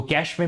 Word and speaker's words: cache: ऐसी स्पेयरिंग है और कैश इसका करेक्ट प्रनंसीएशन है अब तुम्हारी मर्जी हो